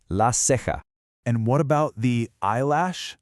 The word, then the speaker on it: la ceja: This is la ceja. Now pay close attention to that ha sound at the end because we're going to see it again. Say it with me, la ceja.